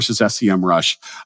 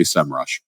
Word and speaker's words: Semrush: I am saying it I say semrush that's how I would pronounce it now although when I type it on my phone it's still comes out sem Rush from all of my